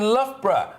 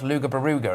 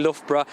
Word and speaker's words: Loughborough: from a test centre in Loughborough, actually, which I did once hear an American pronounce Luga Baruga, and I did quite enjoy that. But anyway, Will, what's going on? Yeah, I've known quite a few people that call it Loga Broga.